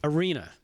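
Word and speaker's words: Iryna: Arena. That's how you pronounce the first name.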